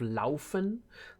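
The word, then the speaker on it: Lernen: denen means thinking um then we do have Len Len means running or um running or walking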